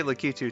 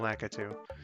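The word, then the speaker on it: Lakitu: name is uh that's lacu I could do yeah I I used to say litu too but I'm I'm fairly certain the yeah I'm fairly certain the official pronunciation is uh laatu okay so like this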